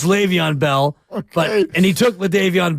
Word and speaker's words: Le'Veon Bell: eyes uh they had leavon Bell as the lead back and I pronounce it that way because that's how my son qu Quest would he thought his name was leavon Bell it's Le'Veon Bell but and he took